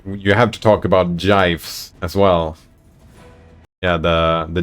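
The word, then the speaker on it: GIF: times good times is to pronounce Jive correctly just use the G in gigantic gigantic gigantic gigantic oh it is gigantic there we go jife that explains it right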